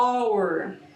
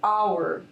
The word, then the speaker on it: hour: Então olha aqui, ó, hour, esse H aqui da palavra hour, que é hora, ela não tem pronúncia, tá?